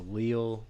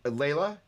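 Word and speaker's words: Lehle: multiple amps called the I'm probably pronouncing this wrong the Leal P split somebody correct me Leila yeah HOH le yeah there you go Gerhard Leila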